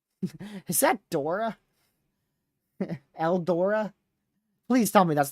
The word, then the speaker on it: Eldora: Oh my word, I need to say El Dorado. That's just what I think is the pronunciation, but it's not. It says Eldora.